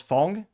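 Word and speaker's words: Ghosn: be Shi by Carlos Fong or phone is how you're supposed to pronounce it where he did successfully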